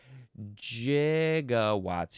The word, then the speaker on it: gigawatts: Uh, what does he say? 1.21 gigawatts. Megawws are the same. H, but yes, he did. He did say gigawatts. Uh, but I believe most people would prefer it to be gigawatts.